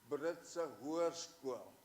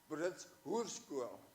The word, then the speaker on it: Britse Hoërskool: It was Brits High School, Britse Hoërskool, Britse Hoërskool. Only she pronounced it Brits Hoërskool, which meant the horse school.